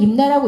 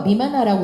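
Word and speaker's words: 任那: 일본 서기에는 이렇게 이제 일본 서기에 나오는 임나는 임나라고 읽으시면 안 되고요. 미마나라고 읽으셔야 돼요.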